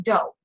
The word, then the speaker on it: Dough: If you guys don't know about it, if you Google it, it's dough, like Play-Doh. Well, I guess Play-Doh is spelled with an H.